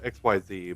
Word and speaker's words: Xyz: Spelled X Y Z, but in I think the first um instruction booklet, they had a pronunciation guide. It was like I K S E E Z. Like Xyz.